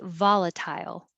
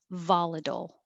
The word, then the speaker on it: volatile: methodology methodology number 12 you can say volatile excuse me or volatile both are fine luxurious luxurious same pattern